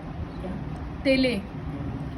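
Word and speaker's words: taille: तेले, ये सब फ्रेंच प्रोनाउंसिएशन है।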